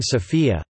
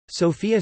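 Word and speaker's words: София: abandoned through the years the city's name is pronounced by Bulgarians with a stress on the O in contrast with the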